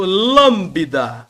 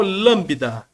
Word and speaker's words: lambda: a é um l representa nosso lâmbda lambida lembro daquele naquele daquele cabelo daquela pessoa que passa aquele gel aquele aquele aquela Brilhantina parece que o boi lambeu aqui é o lâmbda maiúsculo minúsculo eu faço